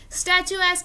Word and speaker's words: statuesque: Statuesque is again a unique and very attractive complimenting word. Do not confuse this word with statue-like. इसमें स्टैचू आता है बट इसका pronunciation होता है statuesque.